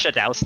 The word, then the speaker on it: Shadaos: It's Shadaus, not Shadows.